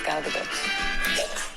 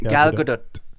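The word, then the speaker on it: Gal Gadot: I totally get it because it's hard to pronounce. But yeah, my name is Galgadot. Galgadot. Gadot. Yeah, the Tal very soft. The soft tea. Galgadot.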